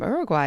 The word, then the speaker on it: Uruguay: Oh, Uruguay. Amazing. Wow. I think that's the first viewer from Uruguay. Amazing. Or Uruguay. I've heard it pronounced both ways in English.